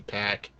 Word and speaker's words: PAC: friggin pronunciations well apparently apparently his name is supposed to be pack but I'm calling a